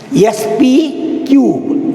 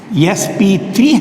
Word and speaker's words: sp3: Remember, my dear students, it should be called as not your mathematics, sp cube. It is not sp cube. It should be pronounced as sp3 hybridization, but not sp cube.